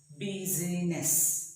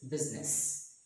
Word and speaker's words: business: eye is 17 business we don't pronounce it as busyness but it is business so now let us